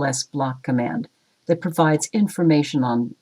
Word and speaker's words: lsblk: In this Linux tip, we’re going to look at the lsblk (pronounced “l s block”) command that provides information